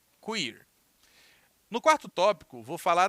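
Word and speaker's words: queer: teoria cuir Queen ok que o er se pronuncia quir no quarto tópico vou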